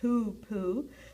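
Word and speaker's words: hoopoe: a the hoop poo bird it's it's uh pronounced hoop poo hoop are the name um are named for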